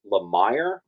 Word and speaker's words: Lemire: Jeff Lemire, although someone just told me it's pronounced Lemire.